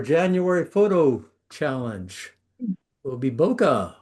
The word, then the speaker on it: bokeh: Ah, our January photo challenge will be bokeh or as it's correctly pronounced bouquet. The photographic term derives from the Japanese word bouquet.